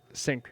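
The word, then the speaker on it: Cink: Sink.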